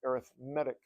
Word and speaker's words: arithmetic: called arithmetic sequence that when you use that word as uh um uh pre you know to to describe the the word sequence we're going to pronounce it arithmetic but uh uh all